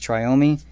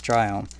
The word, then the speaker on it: Triome: I know Bad Boy Gaming says Triome. He wrong. Alright, he wrong. That's not how you say it. It's Triome. Same as Biome.